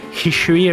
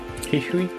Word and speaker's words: Hisui: I guess it has like a Chinese origin. Like the region has Chinese like way. So Hishui or something, right? Hishui.